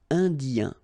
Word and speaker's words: Indien: So remember here it's nasal and it can be quite tricky. So first you've got this un here and then you've got this yin, yin. Okay, Indien.